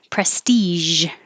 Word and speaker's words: prestige: uh, Prestige. So it looks like a G, but it sounds like a Z with airflow.